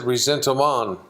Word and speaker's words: ressentiment: The word looks like it's resentment. The French pronounce it ressentiment, which is a combination of envy and rage, covetousness plus anger and envy and rage.